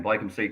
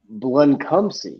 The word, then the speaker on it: Bluncumsey: It's Bluncumsey, and I heard Doc Holliday mention his name a few times tonight. I've been saying it wrong the entire time, and if the player ever listens to the show, I apologize. But yeah, it's Bluncumsey. Bluncumsey.